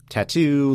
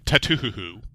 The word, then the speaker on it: Tattoo: your own podcast but I'm pretty sure the correct pronunciation of that title is tatuo look Loren's going to